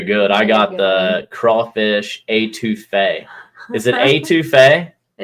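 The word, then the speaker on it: étouffée: I got the crawfish A2 Fay. Is it A2 Fay? It's A2 Fay.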